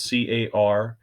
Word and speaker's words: cartouche: they're called a cartouche which is spelled c-a-r-t-o-u-c-h-e car touch e cartouche and a cartouche is